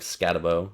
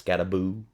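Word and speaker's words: Skattebo: on my list is SC cam scabo don't pronounce that wrong even though it looks like scabo it's scaboo um his tape is incredible and his numbers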